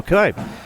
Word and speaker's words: Knipe: I was saying Michael Knipe right, and then Todd Miller, I love him to death, but had me change the pronunciation, but quickly, the Bellevue fans were like, Eagan, you're good. It's Michael Cannipe.